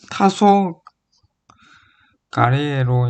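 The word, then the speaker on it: 黄昏: 대표적인 예시로 아스카라고 읽히고 원래 이걸 훈독으로 한다면 토비지마라고 읽는데 아스카라고 읽히고 황혼이 타소 가리에로 읽히는 것을 들을 수 있다.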